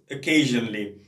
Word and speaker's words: occasionally: عليه، بس عنا كلمة occasionally. occasionally هي تبدأ ب O لكن اللفظ تبعها دائما بيبدأ بالشوا اللي هو الـ سواء في البريتش سواء في الأمريكان، لكن معظم الناس أنا